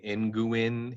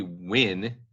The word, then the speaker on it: Nguyen: ng u ye n so you might look at that and say n Guin in guy n but it's actually the win so it's kind of